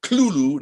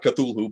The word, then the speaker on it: Cthulhu: name Cthulhu, of course, nobody pronounced it correctly, but it is Cthulhu, not Cthulhu, but anyway, let that pass.